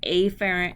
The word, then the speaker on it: afferent: When you see afferent and efferent, now I pronounce them afferent and efferent so you know what I'm saying.